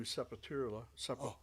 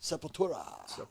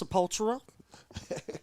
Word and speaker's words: Sepultura: Blood Rooted Tribute to Sepurula. Right on. Am I saying it right? Sepultura. If you're Ricky Rakman, it's Sopultura. All depends on what part of the country you're from.